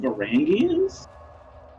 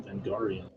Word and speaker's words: Varangians: Is that what they're actually called? Varangians? I've always pronounced them Vengarian.